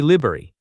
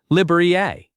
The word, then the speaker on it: library: People often skip a whole syllable and say libery. The correct way keeps three syllables. Liiera.